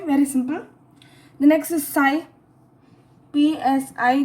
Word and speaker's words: Psi: The next is Psi, PSI. The P is silent.